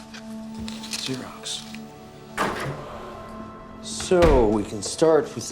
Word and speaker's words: Xerox: starts with an axis um it's greek it's pronounced xerox xerox so we can start with the signature card